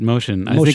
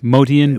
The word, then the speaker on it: Motian: see how you say he always pronounced it motion it was an Armenian name so it was actually motian boat motian but he liked motion